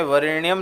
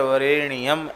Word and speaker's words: वरेण्यम: और जप के समय वरेण्यम न बोलकर वरेण्यम ऐसा बोलें।